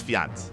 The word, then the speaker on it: Fjant: always or vajans what I know it's fiance I know I know that's how you pronounce it from my understanding my understanding just